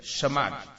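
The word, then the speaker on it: חמד: As letras são K-H-A-W. Separação M-A-D. Se fosse para pronunciar na nossa língua, seria shamad.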